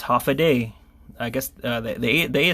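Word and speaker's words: Håfa Adai: it's actually it it it looks like this but it's actually pronounced half a day I guess the the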